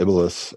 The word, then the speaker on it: Iblis: Iblis. No, I'm not getting you. Iblis. I believe in Catholicism it's the Antichrist, but in Muslim tradition it's the actual. Iblis. I'm sorry. You're giving him an extra syllable.